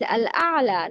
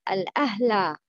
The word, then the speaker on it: الأعلى: Example, الأعلى. It's الأعلى, not الأهلى. No, or الأحلى. No.